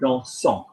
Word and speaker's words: dansant: And ANT gets pronounced because it's the ing form of the verb, it's the gerund. So, for example, dancing, dansant.